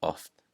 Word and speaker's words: oft: All right, the next rule, when it sounds like the letter F, is before the letters K, S, and T.